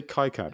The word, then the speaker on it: KiCad: You say KiCad, right? I say KiCad, but it's really KiCad.